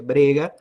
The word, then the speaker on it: brega: da briga que é se escreve brega se pronuncia briga que é um conceito